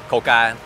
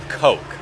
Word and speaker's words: Coke: This one is easy to pronounce, but when abbreviating, Vietnamese people say "Coca," whereas in English, "Coke" is the correct abbreviation.